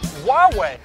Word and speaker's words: Huawei: It's actually pronounced Huawei.